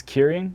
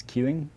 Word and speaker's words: Kirin: Well, in Japanese it's Kirin, and then in Chinese it's Keeling.